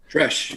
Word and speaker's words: Tresh: Tresh, is that how you pronounce that? Tresh, yes, sir.